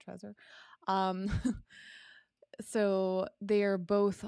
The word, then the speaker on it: Trezor: the brave site is the uh trezor tracer that's how you pronounce it trezor um so they are